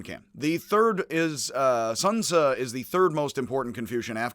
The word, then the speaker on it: Xunzi: it looks like z you could be like sun z like it is sun su it's got an uh at the end again